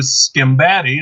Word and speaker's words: Sgambati: I'm one of your three co-hosts, Jason Herndon, along with Sgambati. Did I say it right? You got it.